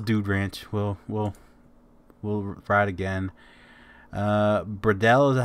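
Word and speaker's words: Bredal: Bradell is how it's pronounced.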